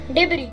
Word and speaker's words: debris: The correct pronunciation of the word is debris.